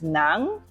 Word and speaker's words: ng: manga manga so um sounds like m a n g a manga manga so NG is Nang okay m g a